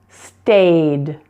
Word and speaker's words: stayed: Stay, stayed. And please, pleased. Again, note that the E's are silent there. Just pronounce the D, not ed, but D.